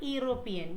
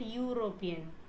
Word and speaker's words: European: Then European, it's not European, we call it European.